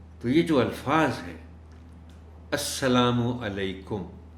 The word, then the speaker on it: السلام علیکم: الفاظ ہیں السلام علیکم، یہ درست بولیں، پورے بولیں، چونکہ عام طور پر ہم عادی ہیں سلام اس طرح کرنے کے، السلام علیکم، السلام علیکم، اب سلام کیا ہوا؟ تو یہ دیکھیں، یہ چونکہ سلام اس طرح کا یہ ہمارے مذہب کا حصہ ہے، تو پورا کہا جائے السلام علیکم، اور ان کو